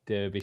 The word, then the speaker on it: Derbyshire: and it's uh derbyshire because i know americans can't say derbyshire it's derbyshire oh i said it